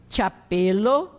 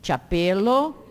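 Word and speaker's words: ĉapelo: Pronuncia como TCH, diante de qualquer vogal. Então, chapelo, pode repetir, chapelo, chevalo, tilio, chocolado.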